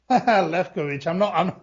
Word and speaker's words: Lewkowicz: How do you pronounce your last name? Lewkowicz.